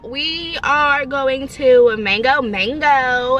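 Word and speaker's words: Mageaux: to mango mango and it's not spelled it's spelled like mango but then m-a-g-e-a-u-x i feel like yeah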